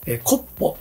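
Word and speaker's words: copo: コッポって発音するそう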